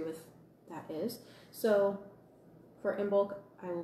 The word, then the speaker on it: Imbolc: So it is spelled IMBOLC. For me, I try and go as close as possible, hi Kathy, to the Celtic pronunciations of things, and I pronounce Imbolc, like with a G on the end, and I pronounce Brigid, I pronounce it Breed.